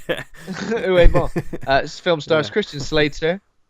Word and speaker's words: Uwe Boll: I've been pronouncing it "ew," like ew, Ball. Uwe Boll.